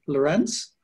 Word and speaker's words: Lorenc: was introduced by Andrew lorence um despite the C at the end it's pronounced like lorence